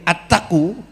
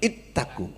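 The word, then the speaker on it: اتقوا: kon konteksnya Pak siswaji menyebut tadi attaqu itu enggak tepat yang betul ittaqu tapi kalau hanya salah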